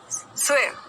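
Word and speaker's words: swear: स्वेयर, स्वेयर मतलब कसम लेना। आई स्वेयर, आई स्वेयर, आई स्वेयर। Pronunciation देखिएगा, स्वेयर, र नहीं बोला, स्वेयर नहीं बोलना, स्वेयर, स्वेयर, स्वेयर।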